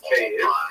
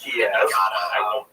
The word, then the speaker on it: Kyiv: That's the Ukrainian pronunciation, by the way. That's favored today because, of course, Ukrainian is the dominant language in the country. But it used to be called in English Kiev, which is closer to a Russian pronunciation because Russia dominated much of this area in the modern era.